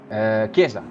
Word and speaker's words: Chiesa: How would you pronounce his name? Chiesa.